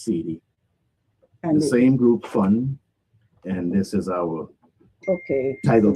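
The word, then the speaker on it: Phun: And funk, it's spelled P. It's H-U-N. It's spelled P-H-U-N, but right. But it is fun. Fun. Like fun, like having fun.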